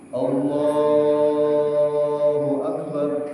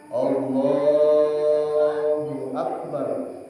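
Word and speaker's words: الله أكبر: Harus nyambung. Allahu Akbar. Barnya jangan dipanjangin. Akbar. Allahu Akbar. Yang panjang apa? Lam jalalahnya. Duyun yang panjang. Allahu Akbar. Dipanjangin di situnya boleh. Yang lainnya enggak agak panjang. Allahu Akbar. Pendek semua kecuali lafaz Allah.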